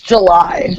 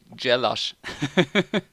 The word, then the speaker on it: Gjelaj: your surname yes okay I think I read it's like Julie its July July July like the mom yes like the month exactly yeah and if I pronounced it German it will be jealous so how are you doing